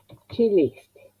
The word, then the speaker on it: Celeste: La sílaba acentuada, según me indica el texto, les. Entonces, antes de la L pongo el acento.